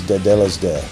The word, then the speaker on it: Tetelestai: It's the proper pronunciation is Tetelestai.